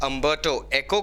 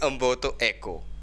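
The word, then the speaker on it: Umberto Eco: The Hindu newspaper से ही is interviewing अम्बर्टो एको. Italian है, इसलिए इनका नेम इस तरीके से प्रोनाउंस किया जाता है. इट्स नॉट अम्बर्टो एको, इट्स अम्बर्टो एको.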